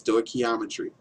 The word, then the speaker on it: stoichiometry: sto geometry is Greek for measuring elements is pronounced sto ometry making sure to put this in there because